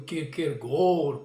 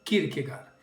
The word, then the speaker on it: Kierkegaard: grande filósofo soren Kirk alguns pronunciam kirker gor porque diretamente do din Marquez enfim mas é conhecido como Kirk gar este vídeo eu quero